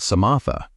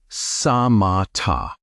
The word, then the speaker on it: samatha: The first practice the Buddha taught is called samatha. Say it like samatha.